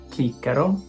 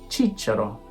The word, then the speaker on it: Cicero: In classical, chicero. In ecclesiastical, cicero. In English, Cicero. These are all correct.